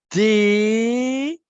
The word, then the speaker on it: des: Des. Ok? N'écris pas de. Ça, on le prononce de. Pour le prononcer des, je dois impérativement ajouter le S.